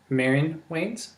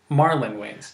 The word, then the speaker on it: Marlon Wayans: How do you say his name? Mary. Oh. Yeah, okay. I couldn't tell if you were saying No, sorry. Marlon Wayans. I was reading the L like an I.